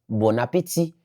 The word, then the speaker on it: bon appétit: Bref, ces mêmes mar là, on écrit bon appétit, ça se prononce bon appétit pendant que toujours écrit B o N.